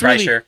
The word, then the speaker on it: Kreischer: Kirshner, Because they're both bearded Kreischer. yeah, they're both. Kreischer. Yeah, But whatever, it's Kreischer, it's, whatever.